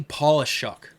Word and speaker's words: Polishuk: the states named Danny paulishuck huh it's spelled like polish like Paul shock like polish was c-h-u-k at the end of it okay any polishuk and